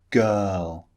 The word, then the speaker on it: girl: vowel sound ah girl the r in girl is not pronounced in the second vowel